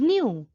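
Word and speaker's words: knew: is k-n-o-w it becomes new that is k-n-e-w remember in both no and new k is silent number 20 is lay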